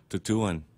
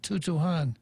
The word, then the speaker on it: Tutuhan: How do you say it, Real Joe Cruz? Tutuan. Tutuan, not Tutuhan.